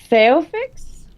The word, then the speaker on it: Phaeophyx: Phaeofix, Phaeofix. which is spelled Phaeophyx.